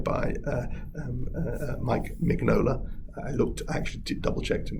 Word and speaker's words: Mignola: actually double checked yeah my my instinct is to say mignola like uh sort of italianize it but uh according to wikipedia um this is my his name is mig nola that's how it's pronounced uh after that so